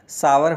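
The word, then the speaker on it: sour: इसे शोर कहा जाता है। जबकि इसका सही उच्चारण सावर होता है।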